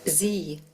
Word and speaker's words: Sie: Sie. Ya, S-nya ini bunyinya seperti huruf Z Bapak Ibu jadinya.